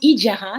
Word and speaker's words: Ejara: Ben écoute, Ijara, je prononce Ijara, le I du e-commerce. Ejara.